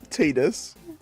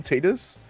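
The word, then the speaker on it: Tidus: as I know I know that it is pronounced Tetus. I am aware that an official like I think it was in the Dinia series they called him Tetus.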